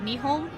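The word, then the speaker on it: Nihon: you haven't noticed and Nippon is a different pronunciation of me home which is Japan like this takes place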